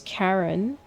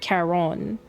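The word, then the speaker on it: Charon: It's weird because it's the exact same spelling, but in Final Fantasy, it's pronounced as Karen as in like K A R N. But in Hades, it's pronounced as Karon.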